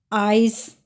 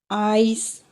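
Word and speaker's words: Eis: इसी तरह अगर ए के साथ ई आए तो इन दोनों को मिलाकर आई की साउंड आएगी। For example आइस, आइस, ice cream.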